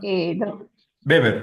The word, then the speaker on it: Weber: La pronunciación, beber. Weber en alemán se pronuncia. Sí, weer sería en inglés, pero como era alemán.